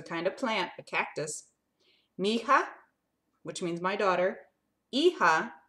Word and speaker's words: mija: Mi-hija, it's M-I-H-I-J-A, pronounced mija, mija.